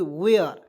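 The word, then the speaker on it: where: आर ई वर और दोस्तो इसे वर नहीं पढ़ेंगे डब्लू ई आर इस से पढ़ते हैं वर लेकिन इसे पढ़ेंगे वेयर ठीक है एकदम पॉइंट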